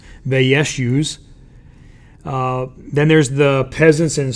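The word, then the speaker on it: Vaishyas: use okay the wears has merchants that's actually pronounced they yes use then there's the peasants and serfs which were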